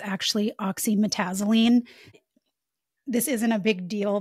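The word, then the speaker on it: oxymetazoline: I mispronounced Afrin's a active ingredient. It's actually oxyetazzylene.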